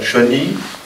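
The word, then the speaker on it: Cheyney: par des auteurs comme Peter Cheney, comment on prononce son mental? Cheney, et par les grands auteurs de polar américains,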